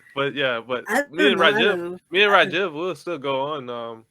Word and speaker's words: Rajiv: how do I spell sorry how do I pronounce it Rajiv Rajiv okay nice to meet you Rajiv and